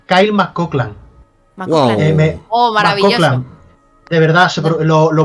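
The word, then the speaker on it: Kyle MacLachlan: Se pronuncia Kyle Mcoklan.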